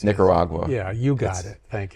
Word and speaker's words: Nicaragua: I can never pronounce the Nicaragua. I can't get that out. It's Nicaragua.